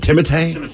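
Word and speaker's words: Timothée: it all right because he spells his first name t-i-m-o-t-h-e-e with an accent order so what is it timothay today I want to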